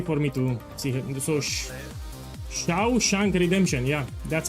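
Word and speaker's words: Shawshank: So now I know how to pronounce it's Shiao Shank Redemption. Thank you. So if you wrote it like that, it's easy for me to see. So Shiao Shank Redemption.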